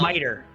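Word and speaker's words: mitre: Um, and this pope hat, um, miter. Miter. Miter. Miter. That's how you pronounce it.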